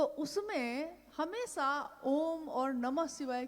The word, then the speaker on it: ओम: अगर एक साथ सुना जाए उसको, तो उसकी आवाज गूंजती हुई ऐसी है जैसे हम बोलते हैं या उच्चारण करते हैं तो हम कहते हैं ओम, है वो आ उ मा, यानी उत्पत्ति, स्थिति और